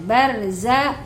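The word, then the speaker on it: برزخ: harusnya dibaca tafhim atau tebal ya tadi Eh membacanya wijya bainahuma barja nah barza bar bukan bar tapi bar ya bainahuma barza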